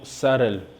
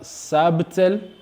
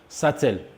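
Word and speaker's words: subtle: Alors, pour terminer avec les exemples, nous avons les mots sarel. Sarel. Alors, ne prononcez pas sabtel, mais dites simplement sarel. Sarel. Ou bien, pour certains anglophones, ils prononcent satel. Satel. Sarel ou bien satel.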